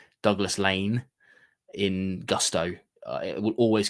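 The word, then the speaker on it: Laing: I get in trouble with this a lot because it's Lane, Douglas Lane. So in my dialect, that would be Lane.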